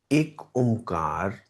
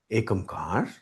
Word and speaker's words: एक ओमकार: एक ओमकार इज a generally spoken pronunciation of this reality truth. एक ओमकार. अगर मैं एक अमकार बोल दूं, तो कोई गलत तो नहीं है इसमें। एकमकार, वो भी ठीक ही तो है।